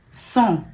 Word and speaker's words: sang: Sans means without, but sang means also blood.